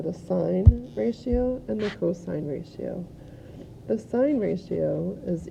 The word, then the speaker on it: cos: abbreviated to cos so please don't pronounce it cause it's cosine and that would abbreviate